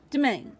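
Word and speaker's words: demesne: to pronounce domain okay so it's the main okay the s is sort of silent gotcha domain okay it's domain at least your own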